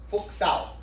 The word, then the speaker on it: Fuk Sao: And the last one, which sounds sturdier than how it's spelled, is Fuk Sao.